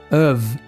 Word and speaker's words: of: pronúncia of mas sim of chega a ser um v mesmo of E aí junta